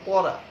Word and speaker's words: পড়া: যেমন পড়া, যখন বলছি পড়া বা দৃঢ়, তখন কিন্তু একটু উচ্চারণটা গভীর হচ্ছে।